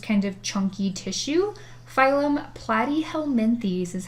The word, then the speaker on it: Platyhelminthes: organ it's just kind of chunky tissue phylum platyhelminthes is how you say that fun word the